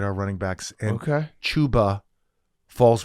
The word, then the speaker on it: Chuba Hubbard: Chuba Hubbard, right? Yeah, Not Yeah. No, it's Chuba. yeah. Chuba. Yeah. Chuba Hubbard, not Chubba Hubbard.